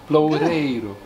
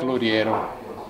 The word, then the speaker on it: Loureiro: Loureiro. Then you have to do the rrr. No, not the have rrr. To have to practice the Loureiro.